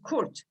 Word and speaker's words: Kurt: very common Turkish surname, Kurt. Normally we would pronounce it as Kurt. Kurt is fine as well.